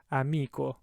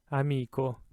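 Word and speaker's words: amico: chu sound bachi that third word there amiko amiko hard ka sound fourth word because it's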